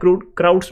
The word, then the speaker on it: Crout: लेकिन अब जो आपके पास न्यू नेम आएगा उसको बोलते हैं क्रूट्स मेथड, ठीक है, क्राउड्स मेथड बोलते हो या फिर क्रूट्स मेथड, जो